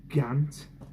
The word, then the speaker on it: GANT: One thing I picked up from Broiley Hill, a GANT. That's how you pronounce it.